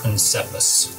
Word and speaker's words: Princeps: For her exact pronunciation, it's Princeps.